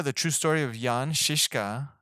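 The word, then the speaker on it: Žižka: true story of Jan shishka at least that's how they pronounced in the movie like shish kebab one of the greatest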